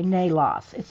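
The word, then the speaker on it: Naelos: Nalos. Nalos. N-A-Y-L-O-S. Okay, Nalos. It's written N-A-E-L-O-S. Nalos.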